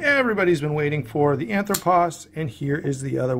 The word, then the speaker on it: Anthropos: of people not know how to pronounce this anthropos is just Greek for man and you say it like that anthropos uh I'm sure Nico if you're watching you can correct my pronunciation down in the comments uh so let